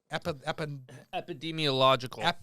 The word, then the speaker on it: epidemiological: Epidemiological.